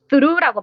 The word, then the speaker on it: through: 들어온다 무엇을 통해라는 뜻으로 스루라고 발음을 하고요 gh가 묵음입니다 그래서 창문을 통해서 들어와서